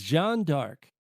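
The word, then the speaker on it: Jeanne d'Arc: name Joanna dark was taken from the French pronunciation of Jona AR as Jean dark while the name of the in company data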